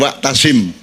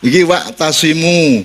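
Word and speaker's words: واعتصموا: Karena kata "tashimu" diucapkan menggunakan huruf wau, alif, dan dammah. Bukan "wa'tashim" ( yang terdengar seperti seseorang yang menjual sate ), melainkan "wa'tashimu," yang berarti setiap orang diperintahkan; lalu "bihablillahi jami'an," sekarang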